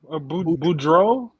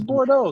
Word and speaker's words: Boudreaux: I thought it was Bordeaux. Boudreaux? Boudreaux? Parker Boudreaux. Okay, Parker Boudreaux. Hopefully I said it right now, Romeo. No, Parker but it's Bordeaux because that's how you spell like the Bordeaux Sevens, right?